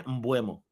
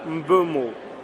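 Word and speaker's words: Mbeumo: Neil Driscoll, do you know how to pronounce this guy's name? Brian Bumo.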